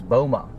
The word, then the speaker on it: BOMA: So, you pronounce that as BOMA.